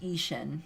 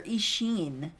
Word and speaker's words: Ishin: right the first time ishin would be pronounced isian perfect thank you or ishin all right we sack a